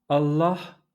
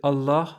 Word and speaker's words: Allah: Voilà, j'espère que vous avez bien entendu ce L emphatique en version originale. Alors la prochaine fois que vous aurez l'occasion de prononcer Allah en arabe, ou Wallah,